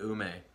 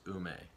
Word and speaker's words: ume: There might be some fruit back there, maybe an ume, which is a plum. The Japanese word for plum is ume.